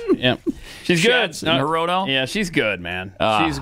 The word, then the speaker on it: Hirono: Harino. No, it's not Harino. Shorts. No, his name is not Senator Shorts. Brian Schatz. Yeah. She's good. Hirono?